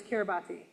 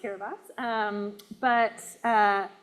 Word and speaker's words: Kiribati: Did you think it was Kiribati? Yeah. So it's actually pronounced Kiribati.